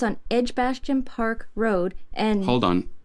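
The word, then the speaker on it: Edgbaston: do you have that address yes it's on edgebastian Park Road and hold on you'll have to spell edge Boston for me I've never heard of it of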